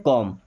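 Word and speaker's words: comb: करने को बोलते हैं कॉम इसको बी को साइलेंट रखते हैं ना कॉम कॉम मींस कंघी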